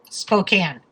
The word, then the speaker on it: Spokane: How is it pronounced officially? Spokane.